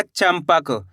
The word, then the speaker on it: चंपक: चम में अनुस्वार की मात्रा चम। कैसे पढ़ेंगे? च में अनुस्वार की मात्रा चम प। तो मिलके बन जाएगा चंपक। कैसे पढ़ेंगे? चंपक। दोस्तों इस शब्द के अंदर अपन आधा मा का उच्चारण कर रहे हैं।